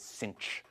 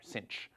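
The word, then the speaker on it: sinh: we usually pronounce this cinch uh so in in American English as if there were an extra c in there cinch um so okay so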